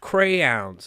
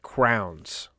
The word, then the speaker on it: crayons: It's pronounced crayons. I vividly remember the conversation. So, because for about 16 years of my life, I was pronouncing it crowns.